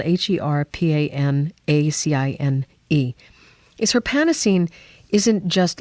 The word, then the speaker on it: Herpanacine: you this the amazing thing about her panine it's spelled h e r p a n a c i n e is herpanacine isn't just like Taylor was talking